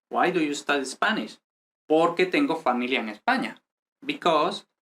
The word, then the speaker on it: porque: Here we say porque tengo. So this doesn't have any accent. I mean, like any pronunciation, intonation accent, no? Porque tengo. The accent goes here in the next word.